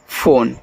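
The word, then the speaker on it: phone: अगर लास्ट में इ आता है तो उसका उच्चारण हम इंग्लिश में नहीं करते हैं।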